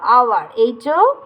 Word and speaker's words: hour: এখানে আবার আছে দেখো আওয়ার, HOUR, আওয়ার, এইটা আবার কিন্তু আমাদের হ উচ্চারণ হচ্ছে না, কি হচ্ছে? অ উচ্চারণ হচ্ছে, তাহলে আমার এখানে আবার হলো অ্যান।